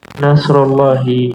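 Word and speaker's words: نصر الله: Nasrullahi, pertolongan Allah. Bapak Ibu ada yang ingat nggak kenapa di situ dibacanya UI?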